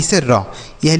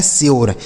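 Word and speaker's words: sure: जैसे यस से बनेगा आपका स, अब यू के बाद आर ई लिखा है तो यू का जो उच्चारण होगा वह यो हो जाएगा। आर ई से र, यह लिखा है स्योर, इसे स्योर पढ़ेंगे, सूर्य नहीं पढ़ेंगे। ठीक है, ना तो सूर्य पढ़ेंगे ना तो सर पढ़ेंगे, इसे आपको स्योर पढ़ना है।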